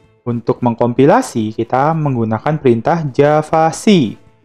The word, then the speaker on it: javac: atau mesin-mesin yang menggunakan Java Virtual Machine, atau kita sebut JVM. Untuk mengkompilasi, kita menggunakan perintah javac. Javac bacanya, bukan Java. Javac, C di sini artinya compile. Apa yang di-compile?